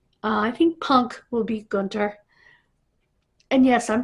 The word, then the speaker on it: Gunther: I think Punk will beat Gunther. And yes, I'm pronouncing it correctly. It is not Gunther. It's Gunther. The H is silent.